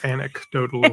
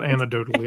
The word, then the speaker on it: anecdotally: it right that time no it's anecdotally not antidotal antidote would be if